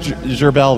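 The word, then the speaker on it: Gerbz: It's a G-E-R B-Z. B-Z? Yeah. Yeah, it's French. Okay. It's pronounced Gerbel, though.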